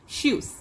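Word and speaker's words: Tschüss: இதே உங்கள் ஃப்ரெண்ட்ஸுக்கு சொல்கிறீங்கன்னா அப்படின்னா ஷூஸ் அப்படின்னு சொல்லணும். இப்போ நம்ம ஷூ போடுறோம்ல காலில், அது மாதிரி ப்ரொனவுன்ஸ் பண்ணணும், ஷூஸ்.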